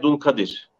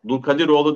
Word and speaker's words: Dulkadir: Konuğumuz Ankara Barosu avukatlarından hukukçu Gizay Dulkadir. Doğru mu? Dulkadiroğlu değil, değil mi? Ya dul Kadir. Evet.